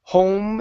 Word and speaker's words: home: So, you need to go to an o sound. So, it's home. Home instead of h.